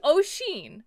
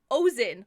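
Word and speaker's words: Oisín: his son's name wrong it was o'sheen like the spelling but he was pronouncing it ozin like hozen sauce or like poison sauce yes he was pronouncing it ocean and she was like she lived in ireland and everything was like no it's o'sheen and they're like why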